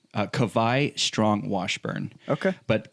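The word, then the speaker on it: Kawai: bucks what's his name Cabaye strong Washburn okay but kovai is spelled ka w AI so of course we're from Hawaii yeah the Hawaiian W is pronounced like a V okay German W yes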